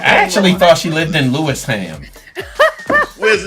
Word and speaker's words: Lewisham: I actually thought she lived in Lewisham. Where's Louis fam? What's that? You Spen? know they're gonna kill you for the hams. Hey, Spen. It's Lewisham, okay?